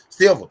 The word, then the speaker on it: Silva: Silva.